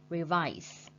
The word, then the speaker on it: revise: Revise. Revise is mean ôn tập, and with the word revise, we put the stretch mark on second syllable like this.